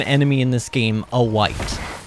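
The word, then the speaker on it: wight: Look, who decided that we were gonna name an enemy in this game a white? I understand that it's W-I-G-H-T, and that it's not the color white.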